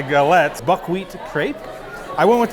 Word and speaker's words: galettes: so for my uh how do you say gallop so for my gallup my all right so for my galettes buckwheat crepe i went